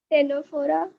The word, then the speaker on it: Ctenophora: Ctenophora. Ctenophora, C silent है.